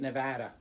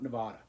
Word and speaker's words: Nevada: is in Elko Nevada that's how you say it Nevada it's not Nevada like Oregon is Oregon gun at the end but anyway Elko Nevada